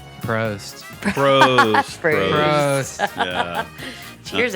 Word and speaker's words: Prost: And you know what rhymes with toast? Prost.